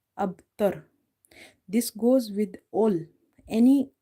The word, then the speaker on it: أبتر: We are reading ta fatha, ra tar. Huwal abtar. No problem.